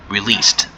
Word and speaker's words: released: of that is released with a d at the end and a d is pronounced as t released okay so released can